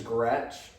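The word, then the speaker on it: Groetsch: That's spelled. Mm-hmm. My last name is Gretch, and that's going to be spelled G-R-O-E-T-S-C-H.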